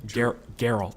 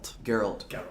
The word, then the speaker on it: Geralt: Geralt. Geralt.